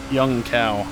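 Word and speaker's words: Junção: the entry to uh what is it young cow I don't remember what the actual pronunciation for three seconds Brazilian Portuguese is Right Brazil does Portuguese young cow yes that's definitely it you think guys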